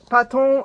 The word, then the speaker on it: Patons: This is Patons, Patons. I've heard it pronounced a million different ways.